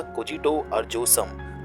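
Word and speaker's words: cogito ergo sum: language में ही था जिसे बोला जाता था कोजो अ जोसम आई थिंक इसे इसी तरीके से प्रोनाउंस किया जाता है जिसका मतलब इंग्लिश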